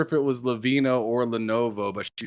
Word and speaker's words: Lenovo: Okay, so you're just telling me for years I've been calling it Levino when it's Lenovo. Wait, you're pronouncing? Yeah, it's pronounced Lenovo.